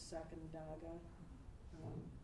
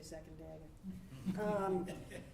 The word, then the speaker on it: Sacandaga: As you Albanians pronounce it, I think it's Sacandaga. People from Rochester like me would say Sacandaga.